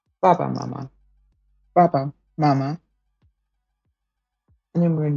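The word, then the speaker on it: 妈妈: Mother has two first tones. Mama.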